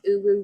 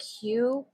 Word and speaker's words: Huw: So I'm following along with it's not Uwu Richards, it's like Hugh, but it's Huw, maybe?